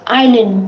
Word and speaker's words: island: Island, then S is a silent letter.